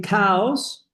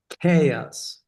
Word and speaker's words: chaos: You see if you say cows. The plural of cow. So it's not cows. Because if you say cows, they're going to understand the plural of cow. Do you understand? The pronunciation is Chaos.